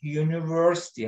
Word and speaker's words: University: Hangi harf çıkıyor ağzından okurken? Hangi harfin adı ne? Y. Y harfi.